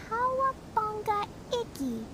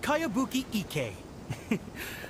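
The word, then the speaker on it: Kayabuki Ikkei: By Kawabunga Iki. Yoimiya, this is a really... Who's this Kawabunga? It's pronounced Kayabuki Ike.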